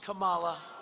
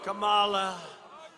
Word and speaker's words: Kamala: Kamala. Kamala.